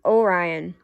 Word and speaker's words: Orion: You say it like Orion.